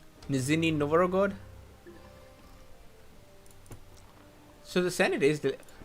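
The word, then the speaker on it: Нижний Новгород: How do you pronounce this city's name? Nizhny Novgorod.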